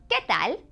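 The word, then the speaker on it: qué tal: it going would be ketal now that U is silent so do remember that in this case when it's between a q and a vowel U is silent so you're gonna say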